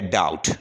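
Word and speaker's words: doubt: Next जो word है वो है डाउट, डाउट कहते हैं शक को, इसमें बी का जो लेटर है वो साइलेंट है।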